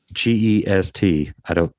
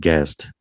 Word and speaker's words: Gest: You're saying guest or quest? GEST. They were saying that's how it's pronounced. I don't know what that means. A jest of Robin Hood? That's what I kept saying, but I think the people said guest, the guy teaching.